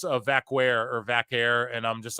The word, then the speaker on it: Vaquer: Chile, it's you actually do pronounce it with like a K sound, so it is like Vaquer how they say it. It's not like how Puerto Ricans and Italians, Puerto Ricans and Dominicans like pronounce their stuff. It's not like that. So you have to say it with the K sound.